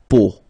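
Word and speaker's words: peau: it's but then so the sound that you will have to pronounce when you've got the these three vowels combined together it's the sound o okay a really simple o okay so you get La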